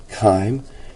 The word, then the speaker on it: chyme: guide in the book, it's K long I-M, chyme, and this is just, that you've had experience with chyme.